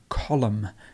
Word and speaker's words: column: lose that one and column so we've got the silent n at the end it's silent column comfortable comfortable you